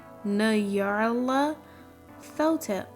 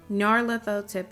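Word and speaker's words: Nyarlathotep: There's no official way to pronounce that name since it's a made-up nonsense word, but I prefer Nyarla Thotep.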